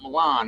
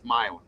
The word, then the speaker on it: Milan: It's not Milan. It's Milin.